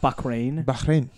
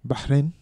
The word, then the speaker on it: Bahrain: Not Bahrain. Yeah, that's what you kind of saying the K. Bahrain. That's it. That's beautiful. That's perfect. That's a beautiful pronunciation of that.